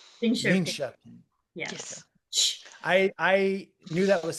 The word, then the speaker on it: Linköping: It's not Linkoping. How do you pronounce it? Linköping.